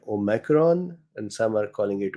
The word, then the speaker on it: omicron: an accent too but it is actually O micron. So it is small O. So O micron or O micron. So some people are calling it O omicron and some are calling it omicron.